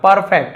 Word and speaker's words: perfect: परफेक्ट है ना, इसे परफेक्ट ऐसे कहा, आर को थोड़ा सा साइलेंट रखते हैं।